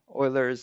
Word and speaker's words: Euler: try try to respect them the german name euler's identity actually i think he's not german but